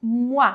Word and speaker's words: mois: Mas vamos lá então falar de meses “les mois” Ah, então eu tenho aqui “les mois de l’anée” Então O com I tem som de “uá” Esse S eu não vou falar mas É obrigatório escrever,